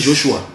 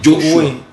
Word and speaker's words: Joshua: Tu as prononcé Josué là, c'est dans quelle langue? Ça c'est déjà francisé. Et francisé, en anglais on va dire quoi? On va dire Joshua. C'est Joshua.